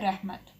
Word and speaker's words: رحمت: سب سے پہلے ہے رحمت، رے ہے می تے، رحمت.